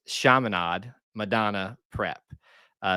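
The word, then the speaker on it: Chaminade: probably pronouncing it because some people would say Kade commade but I think it's shamad Madonna prep uh it's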